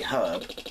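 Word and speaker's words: Erbe: And I don't mean how North Americans say herb. You know, H-E-R-B, but E-R-B-E. Herb.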